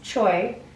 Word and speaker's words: Choi: why his last name is I would spelled Choi, which is the way they pronounce Choi in Korea.